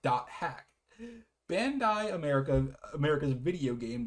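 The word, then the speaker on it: .hack: Bandai Entertainment announced today at the Electronic Entertainment Expo or rather E3 the acquis acquisition of the hack uh sign pronounced hack.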